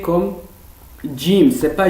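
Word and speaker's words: جيم: en arabe littéraire donc il faut et le prononcé comme jim c'est pas gym il ya certains jouent aussi dans des certains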